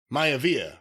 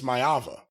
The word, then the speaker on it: Maiva: thought i mispronounced it i didn't mean to say prince maya via i said prince mayava different guy neph right right